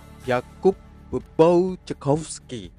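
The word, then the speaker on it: Jakub Błaszczykowski: beginilah penyebutannya secara benar Yakub pun cukup segi Yakub bau chomsky benarkan Mari kita dengarkan orang Polandia ngomong Yakub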